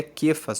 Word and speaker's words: Cefas: Aqui está escrito Cefas, mas na verdade é Quefas a pronúncia, que quer dizer Pedro.